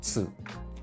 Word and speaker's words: つ: video I made, but the tip for this is to combine the ending sound of hits and the vowel u together and say tsu.